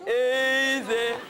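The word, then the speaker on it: Eez-eh: And it's spelled weirdly. Easy. It's easy, Kasabian. And this is what it sounded like.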